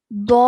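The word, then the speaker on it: ض: You take the entire side of your tongue, okay, and you touch the base of molars, left or right or both.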